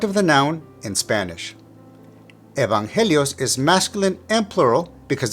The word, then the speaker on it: evangelios: Evangelios is masculine and plural because of the ending os.